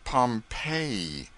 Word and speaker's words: Pompeii: They pronounce it Pompeii.